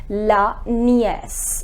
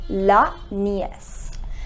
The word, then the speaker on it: nièce: Then niece, it is written in the same way, but we put this accent, and due to this accent the pronunciation becomes la nièce. It is la nièce.